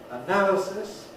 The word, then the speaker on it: analysis: i said but anyhow we all agree on the placement of the stress the word stress which goes on now in analysis and similarly for many